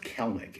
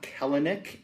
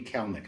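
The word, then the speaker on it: Kelenic: for that love that card jared kellnick it's pronounced celnic it's not kalanick even though it's how you think you should say it it's actually kalnik i've asked him it's kellnick um i expect big things out of him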